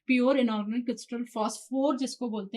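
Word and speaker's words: phosphor: हैं नॉट द फास्फोरस आपको फास्फोरस नहीं लिखना है एग्जाम में या कहीं पर भी या इंटरव्यू वगैरह में आपको फास्फोर बोलना है पी एओ इसकी स्पेलिंग आप देख लो अच्छे से पी एच ओ एस फास्फोर इट इज द फास्फोर नॉट द फास्फोरस फास्फोर का क्रिस्टल होता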